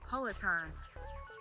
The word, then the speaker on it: Poatan: Poatan. Yeah, like Peloton.